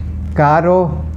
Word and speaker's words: caro: Now the two very similar words, C-A-R-O and C-A-R-R-O. This is pronounced caro, this is pronounced carro. Caro means expensive and carro means a car.